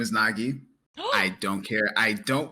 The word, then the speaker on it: vNogi: But I go by the name of Nagi. The V is silent.